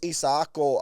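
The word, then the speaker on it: Isaako: I thought it was Isako but of course Samoan. So it's Isako.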